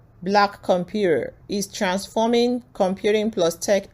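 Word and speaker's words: blackcomputeHER: co-founder of black compute hair black comput hair.or pronounced black computer is transforming Computing plus Tech education and Workforce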